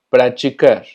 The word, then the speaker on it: praticar: La diferencia es que TI, no importa si está en medio o al final de la palabra, siempre se va a pronunciar chi. Por ejemplo, praticar, vestido, continente.